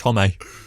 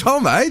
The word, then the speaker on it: Homme: she was called hermione also it's josh hommey it's not josh holman that's that's like do